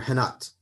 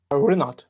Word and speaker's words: Renat: Is it Renat or Henat? Renat, you're right. Renat. I know in Brazil, ours are pronounced like H's, so I have a tendency to say Henat.